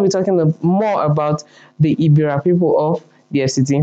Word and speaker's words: Egbira: The correct spelling and pronunciation is Egbira, okay, which is spelled Egbira.